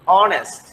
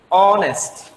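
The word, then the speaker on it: honest: আবার আরেকটা নিয়মে বলা আছে এর উচ্চারণ যদি স্বরেয় এবং স্বরেয়ের মধ্যে, যেমন অনেস্ট, এটা কিন্তু হনেস্ট না, কি অনেস্ট, যে অ এর মতো উচ্চারণ হচ্ছে।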